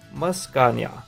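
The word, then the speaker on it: Meowscarada: And then the final one down here, this is pronounced Muscania.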